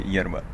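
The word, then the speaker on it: yerba: Смотрите, вот здесь вот она щерба, ерба читается, произносится как щерба, но написано ерба. Не, ну произносится как щерба в Аргентине. Да. Во всем остальном испанском мире ерба.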